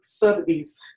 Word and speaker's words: Sotheby's: Like you talked to me about Sotheby's.